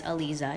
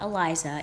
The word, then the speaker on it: Aliza: My name, by the way, is Aliza, not Eliza. It's Aliza. And he says, Alija.